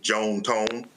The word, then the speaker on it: John Tom: Uh they were southern from Mississippi, so they pronounced it Joan Tone.